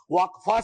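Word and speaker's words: वक़्फ़: और अलग अलग लोग इसका प्रोनाउंसिएशन अलग करते हैं, कोई वक्फ बोलता है, कोई वकफ बोलता है।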